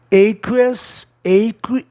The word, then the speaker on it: aqueous: Aqueous, aqueous. Olha a pronúncia. Olha a terminação OS aparecendo aqui, né? Esse que é uma sílaba só, é como se fosse o K, né? Então, a palavra está dentro do sistema vogal consoante uma, porque eu considero QU uma só consoante.